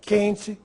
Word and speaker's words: quente: Que, sem trema, quente, questão, quesito. Você notou se eu pronunciei a letra U? Não.